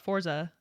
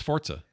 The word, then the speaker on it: Forza: This is a word from Italian, meaning force in Italian.